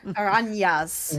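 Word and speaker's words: araña: Aranya?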